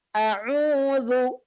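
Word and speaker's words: أعوذ: A'udzu. Nah, huruf dzal ya, a'udzu pengucapannya adalah ujung lidah menempel dengan ujung gigi seri atas.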